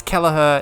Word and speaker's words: Kelleher: how you say it though isn't it it's Kelleher it's the heat Liverpool goalkeeper Mr Kelleher again